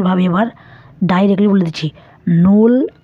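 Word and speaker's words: null: হচ্ছে zero two 12 এটি আপনাদেরকে আমি একবার উচ্চারণ সহকারে ভালোভাবে বলে দিই দেখুন জিরো কে যার মানে বলা হয় নূল ওয়ান কে বলা হয় আইন্স টু কে বলা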